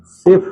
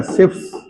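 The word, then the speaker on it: Schiff: जिसे सिफ शिफ क्षार। इसको कहते हैं शिप्स। ऐसे spelling S सी एच I double F या शिप्स बेस।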